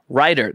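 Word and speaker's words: Rytr: the next AI songwriting application on the list is called writer that's spelled r-y-t-r and it's not specifically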